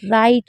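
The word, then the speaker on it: right: द राइट राइट में जी H silent रहता है। जी एच को कहीं पर भी मत पढ़िए।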